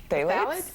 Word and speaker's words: phthalates: And this one I can't even pronounce. It's phthalates? Yeah, phthalates.